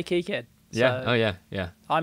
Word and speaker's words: KiCad: and you know how how do they pronounce it they say kicad they say key kid yeah oh yeah yeah